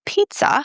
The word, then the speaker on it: pizza: It's p, like I need to pee, then t s and then the shwa at the end, uh. So in the word pizza, the t and s give this very weird sound.